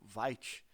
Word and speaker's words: Vite: Eh, primeira coisa, eu vou usar o VIT ou Vite. Eu já vi que a pronúncia é é a origem da palavra francesa, então maioria pronuncia VIT ou VIT.